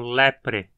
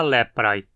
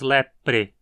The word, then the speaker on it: leprae: Lembre-se de pronunciar o AE como E, então lepre. Não diga leprae e nem lepri, mas lepre.